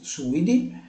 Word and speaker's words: suidi: Quindi avevo detto genere, quindi la famiglia dei suidi, quindi l'accento è sulla U, suidi, genere sus, sus scrofa.